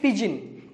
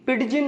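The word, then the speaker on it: pidgin: दोस्तों एक वर्ड है, मैंने यहाँ लिख रखा है, इसे हम पिजिन पढ़ते हैं। क्या प्रोनाउंस करते हैं? पिजिन, पिडजिन नहीं, पिजिन।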